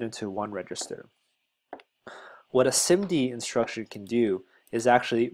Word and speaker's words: SIMD: simd I always PR I think it's pronounced simd casually but this is instruction